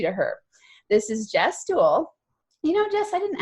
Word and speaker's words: Dewell: This is Jess Dewell. You know, Jess, I didn't actually ask you. Do you pronounce it Dewell? You are spot on. Rhymes with jewel.